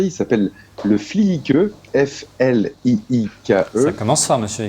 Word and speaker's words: Fliike: Il a un nom qui est très difficile à prononcer. Il s'appelle le Fliike, F-L-I-I-K-E.